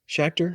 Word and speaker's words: Schacter: Am I saying your last name right, Shakar?